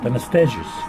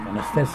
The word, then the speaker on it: Anastasis: Anastasis. Anastasis. Anastasis. Anastasis, yes? It is Greek. Yeah, it's a Greek, because Anastasia, it's a Greek name.